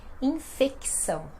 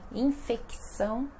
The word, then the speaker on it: infecção: pessoas apresentam infecção respiratória infecção ó né infecção respiratória então mais uma vez um c sozinho que é pronunciado e outra palavra muito